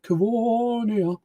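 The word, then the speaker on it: Covonia: That's how you pronounce it. Cavonia.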